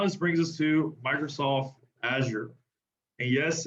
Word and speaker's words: Azure: that out now this brings us to microsoft azure and yes it's azure um to be very honest um for a longest time i used to call it azure and it was funny that we had to